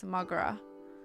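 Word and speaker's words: mo ghrá: Irish for my love. One dialect pronounced is Mogra.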